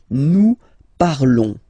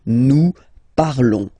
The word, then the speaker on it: nous parlons: Nous parlons, okay? Remember, final S is not pronounced, okay? And then this on together, they will give you the sound on, okay? Nous parlons, all right?